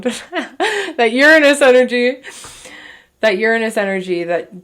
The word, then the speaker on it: Uranus: They could be, you're quite literally scared of that Uranus. Oh God, I said it wrong. That Uranus energy.